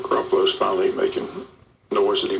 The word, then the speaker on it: Garoppolo: Did I pronounce that right? Yeah, Garoppolo.